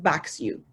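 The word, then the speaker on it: BAXU: So it simply backs you up, and it stands and it's pronounced BAX-U.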